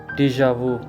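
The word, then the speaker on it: déjà vu: used हो चुकी है गिसी पिटी क्लिश क्लिश डिजावू डिजावू वो फीलिंग होती है जो आपको ऐसा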